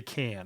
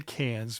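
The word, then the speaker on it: Cannes: It's hard for me to say can. I always want to say cans because I'm American and it's spelled with an s on the end and I just I see it.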